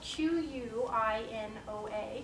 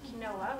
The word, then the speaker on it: quinoa: was in the salad tonight quino quinoa so it's spelled qu i n o a it's a little bit most people pronounce it kinoa when they first see it but it's pronounced